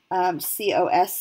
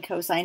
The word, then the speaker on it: cos: it will be S-I-N, C-O-S, and T-A-N. Now, this is a pet peeve of mine. Do not pronounce them sin, cos, and tan, okay? It is still pronounced sine, cosine, and tangent.